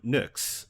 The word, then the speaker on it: Nyx: Greek letter Upsilon um that is pronounced like the letter u u so when I